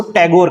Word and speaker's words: ठाकुर: अंग्रेज जो ठाकुर शब्द सही से प्रोनाउंस नहीं कर पाते थे, वो बिगड़े हुए रूप में ठाकुर को टैगोर कहा करते थे।